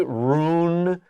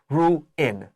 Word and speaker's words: ruin: We don't say rune like R-U-N-E. That kind of sounds like a different word. So this has 2 syllables, even if it's just 4 letters. So it's ru, like moon, ruin.